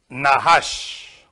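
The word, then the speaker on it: נחש: Nahash.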